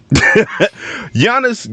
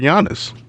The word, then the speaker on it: Giannis: for like 30 years already listen Cal down Giannis got injured recently uh he has been placed